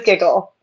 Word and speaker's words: Gigil: Yes, it is Giggle. Correct. Okay. It's technically like a hard sound on the front and like a soft one on the second I, but that's really hard to pull off if you speak.